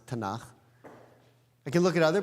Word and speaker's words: Tanakh: mean when I said tanak right the prophets and the writings the Hebrew B when I say Bible I mean the Hebrew Bible which in Hebrew we pronounce tanak I can look at